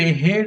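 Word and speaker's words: herd: अ हेड of kettle, यहां पे आर जो है प्रोनाउंस नहीं किया जाएगा, यहां पे हेड ऑफ केटल, मवेशियों का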